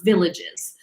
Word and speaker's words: Villages: called coterone village or villages um but village is how that is pronounced so code your own village so there's about 17